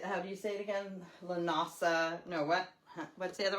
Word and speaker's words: Lughnasadh: Lughnasadh. No, what? What's the other one? Lughnasadh, something like that.